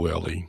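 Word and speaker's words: Wehrle: Remember that we've got Cole Whirl and we've got Andrew Bosley, and is that how you pronounce his name? Is it Whirly? It's Cole Whirly.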